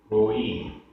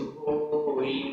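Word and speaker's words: होइ: होई होई मई मई, यहाँ होई में ई छोटी है और मई में ई बड़ी है, तो दोनों के उच्चारण में डिफरेंस है, होई मई, ये दोनों डिफरेंस रहेगा।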